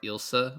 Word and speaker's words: Elsa: And I said to you like she pronounces her name's spelled Elsa. She pronounces it more Ilsa a little bit in the beginning.